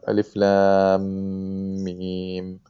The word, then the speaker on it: الم: So we're merging the two, even though it's written one, but it's really a shadda on it. So that's why we have Alif lam mim.